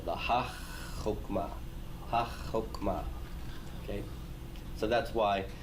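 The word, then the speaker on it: הַחָכְמָה: That is to say, we're going to treat and pronounce that chet as if it were doubled. It's virtually doubled or implied, but you can't write the dagesh forte in it. Okay? So it looks open, but it's really being treated like a closed syllable.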